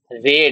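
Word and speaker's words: read: দিচ্ছি কি হবে রিতা রেড হবে রেড রেড কেন উচ্চারণ করছি আমি আগেরদিনই বলেছিলাম রিড রেড রেড বানান একই উচ্চারণ আলাদা এটা ছিল এটা লিখছি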